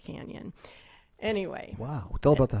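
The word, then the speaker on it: Cañon: So it is Cheyenne Cannon, but of course it's pronounced canyon.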